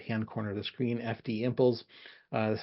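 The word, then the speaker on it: FDIMPLES: the upper right hand corner of the screen FD imples uh that's how you pronounce it English um but it stands for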